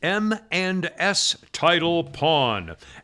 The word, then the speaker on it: M and S Title Pawn: and s title upon i'm saying it that way because it sounds like eminence and you can't know how to spell it the company is m the letter m and the letter s title pawn m and